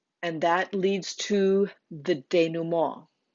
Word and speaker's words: denouement: And that leads to the denouement. This word has way too many vowels in it, and it looks like denouement, but it is a French word and it's pronounced denouement.